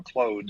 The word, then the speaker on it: Claude: people struggle with it I tell them to close the door close is the proper but see I've been